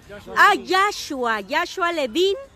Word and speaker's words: Joshua Levin: Yo, ¿cómo pronuncio tu nombre? ¿Joseph o Levin? Joshua Levin.